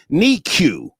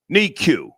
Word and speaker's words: NICU: Just Life 78 says, Star, it's pronounced NICU. NICU.